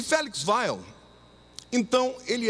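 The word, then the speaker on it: Weil: homem muito importante chamado félix wael ou como alguns pronunciam félix venham mais no alemão e vaiou félix vai lhe era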